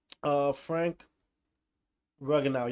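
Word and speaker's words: Frank Ragnow: Frank Ruganow.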